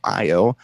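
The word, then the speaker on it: iiO: And the tune is by a band called I.O. That's spelled I-I-O.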